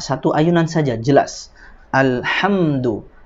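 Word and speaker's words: الحمد: Alhamdu, alhamdu, alhamdu, ya, bukan alhamdu, ya, itu mendengung.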